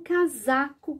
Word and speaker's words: casaco: A regra é, entre duas vogais, pronunciamos o S com som do Z.